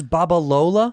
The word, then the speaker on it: Babalola: you say that rudy charles what alola charles barbalola what a cool name he's a great actor charles babalola yeah and he's just right english and him